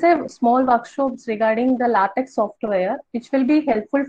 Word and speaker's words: LaTeX: So, LaTeX is base, it is actually LaTeX. Okay, you have to pronounce it like LaTeX, and it is mainly